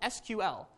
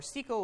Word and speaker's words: SQL: popular it's this thing called SQL or SQL or SQL there's a bunch of different pronunciations um but it stands